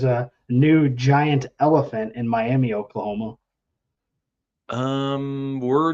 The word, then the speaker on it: Miami: And it's Miami, Oklahoma.